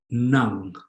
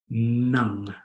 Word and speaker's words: ng: But if the NG is by itself, if it's its own standalone word, it's pronounced nung, like the English word tongue, but with an N. Nung, nung.